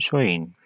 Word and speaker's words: Samhain: Halloween’s origins date back to the ancient Celtic festival of Samhain (pronounced sow-in).